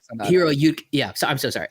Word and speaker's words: Hiroyuki: You love Hiroko. Hiro. God, I can't say his name. I'm so sorry. Hiroyuki. Hiroyuki.